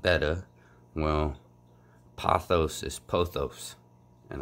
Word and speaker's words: betta: we take the the betta fish everybody says beta and it's not it's it's correctly pronounced betta well pothos is pothos and I've been sayin